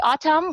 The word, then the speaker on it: autumn: For example, in the word autumn, we do not pronounce the letter N.